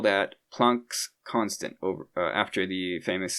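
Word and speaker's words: Planck: It's not plank. I might say that sometimes by accident but from what I know it's actually plunk is the correct pronunciation.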